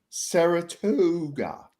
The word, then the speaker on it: Saratoga: Which is pronounced Saratoga, and it was decorated like a Stevie Nicks nightmare.